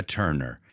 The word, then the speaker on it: Turner: not t it's turn I want you to imagine the U as an e turn it's another great